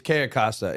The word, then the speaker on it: Cayo Costa: Can we see exactly where can you pronounce it again for me? It's Cayo Costa.